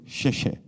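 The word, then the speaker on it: 谢谢: X is for sheshe, which is how you say thank you in Chinese.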